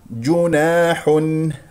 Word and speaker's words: جناح: اسمع صوت الميم المظهره ج جيم مضمومه نضم الشفتين ج جناح افتح الفم في الالف التي بعد النون والحاء هنا ا مضموم تنوين ضم جاء بعدها همزه اذا اظهار جناح ان نسمع صوت النون المظهره وايضا جاء هنا بكلمه ان